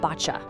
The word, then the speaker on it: Boccia: First things first, let's get the pronunciation right. It's botcha.